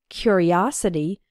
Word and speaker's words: curiosity: a curious boy and in the noun form curiosity the third syllable is strong o his curiosity got him into trouble